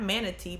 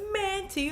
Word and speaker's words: Manti: Not Manatee, but Manti or Monty or whatever Manti. Let's try to pronounce his name right.